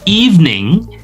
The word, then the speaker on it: evening: When you state evening, it is not three syllables. Jadi kalau kita menyampaikan kata evening itu bukan evening ya. Bukan evening ya. 1 2 3 itu tetot salah ya. It's not three syllables but only two syllables.